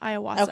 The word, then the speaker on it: Iwasa: name aasa I believe this his last name iwasa I said it wrong last week yeah so